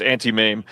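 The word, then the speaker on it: Auntie Mame: It is pronounced anti-mame.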